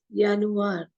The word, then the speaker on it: Januar: with joury world so for Janu it is yanu it is j n u a r but is pronounced as the in a German so it